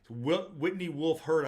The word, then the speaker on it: Whitney Wolfe Herd: think her name's Whitney Wolfe Herd, is the way you say it. It's not the way it's on the 13G SEC filing, but Whitney Wolfe Herd, I believe, is her. That's the way you say her name now.